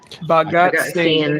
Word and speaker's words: Bhagat Singh: One of those people was, does anyone know how to pronounce that name? Bhagat Bhagat Singh.